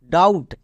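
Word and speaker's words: doubt: এর ক্লাসে দেখে আসলাম বি এর পরে যদি টি থাকে তখন বি সাইলেন্ট থাকে এখানে যেহেতু বি এর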